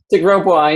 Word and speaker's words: De Grosbois: De Grosbois, yeah, that's right. I almost had it. How do you spell that for everybody? It's D-E, and then there's usually a space, capital G-R-O-S-B-O-I-S.